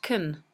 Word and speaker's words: can: And so can, in this sentence, is pronounced kun.